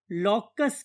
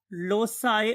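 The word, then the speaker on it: loci: ये डिफरेंट लोग इसको डिफरेंट वे से प्रोनाउंस करते हैं। अगर आप इसे सी बोलेंगे तो लोसाई बोला जाएगा, अगर आप इसे के की आवाज बोलेंगे तो फिर ये लॉकी कहलाएगा।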